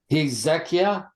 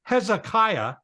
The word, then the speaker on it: Hezekiah: at it all right do you pronounce it hezekia well that that's close it's yeah and you you learn by doing but if you pronounced it hezekia everybody would go okay no problem it's Hezekiah Hezekiah hez H EZ yeah